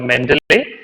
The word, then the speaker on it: Mendeley: use a software called mendeley so anyway pronunciation is like men delay you can search that